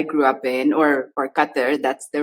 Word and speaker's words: Qatar: is where I grew up in or or Qatar that's the right way to pronounce that's it but yeah essentially I grew